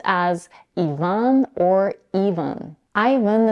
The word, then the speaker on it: Ivan: as Ian or Ian Ivan is a two syllable name and Americans pronounce it with a stress on the first syllable which is the dong